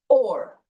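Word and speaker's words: אור: this in quotations okay it is pronounced or put a in your in your in your o or okay or is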